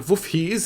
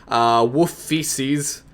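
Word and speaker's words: Wolfheze: I know a few of you guys like to say that I pronounce it as Wolf Feces, but not quite. I'm not trying to say wolf feces. It's a Wufhees, or in the Dutch, proper Dutch pronunciation, it's Wufhees.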